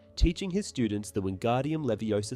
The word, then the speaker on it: Leviosa: film she corrects him by emphasizing the correct pronunciation of the spell Leviosa not Leviosa in the movie Sheamus finnean experiences mishaps in